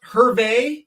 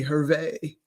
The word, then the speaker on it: Hervey: That's the French pronunciation.